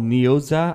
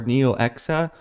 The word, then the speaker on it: Neoxa: the website here so this coin is called neosat i believe or neo exa whatever way you want to pronounce it n it's n-e-o-x-a and it's on the